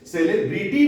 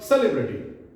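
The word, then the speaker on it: celebrity: है, अ, इसका मतलब आई का साउंड हमें क्या प्रोड्यूस करनी है, अ, ई नहीं, हम इसे सेलिब्रिटी नहीं बोल सकते हैं, ब्रिटी, this is called सेलिब्रिटी, सेलिब्रिटी, this is the right pronunciation, this is the correct pronunciation, right, this is सेलिब्रिटी, सेलिब्रिटी।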